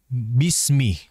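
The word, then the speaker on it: بسم: diperhatikan yang pertama adalah Bismi ya Bismi perhatikan pada harf yaak lihat di situ sinnya itu kondisi di sini adalah mati Ya Sukun dan ini memiliki e sifat yang disebut denganangitu cepatengannya Bismillahirrahmanirrahim diberikan jedak terlebih dahulu agar lebih lama Bismillahirrahmanirrahim bismillah bismillah sinnya agar mengalir terlebih dahulu ya sehingga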